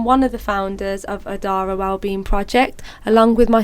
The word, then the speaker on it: Odara: So joining me this week, alhamdulillah, I'm really happy to say I have the Odari, am I saying it right? It's Odara.